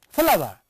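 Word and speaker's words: flour: See, Pronunciation for the words is same. It is not flower as generally people read it. No, it is flower, it is flower.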